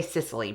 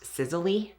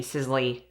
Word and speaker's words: Sisley: product is the sis I was about to say sisily but I think it's actually pronounced sizzly phyto Hydra tint beautifying